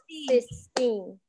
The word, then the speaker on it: Sistine: Sistine. Two syllables. Sistine.